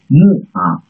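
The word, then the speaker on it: 木: The trees, the Chinese character trees, mu, and pronounce mu, it means a tree, mu.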